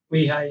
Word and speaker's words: Lehigh: Is that how you pronounce it? Lehigh? Lehigh, yeah.